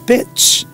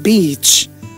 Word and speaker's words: beach: So if you pronounce it bitch, that would be disastrous meaning. Very inappropriate. Yeah. So bitch and beach.